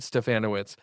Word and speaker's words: Stefanowicz: He said we got to say it like Bananowitz, okay? So that's how we remember it. Stefanowicz.